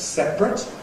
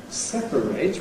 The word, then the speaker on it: separate: That's separate, where you've got earth, whereas separate with a strong A cannot have compression because the vowel is strong. So the verb has to remain as 3 syllables to separate, whereas the adjective can get you 2 syllables, separate.